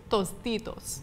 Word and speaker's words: Tostitos: Tostitos okay so no say it correctly it's Tostitos okay toos so uh this one is more